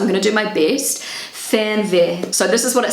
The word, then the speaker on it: Fernweh: Fernweh. So this is what it sounds like on Google Translate. Fernweh.